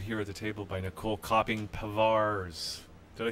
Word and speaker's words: Nicolle Kopping Pavars: And we are now joined here at the table by Nicolle Kopping Pavars.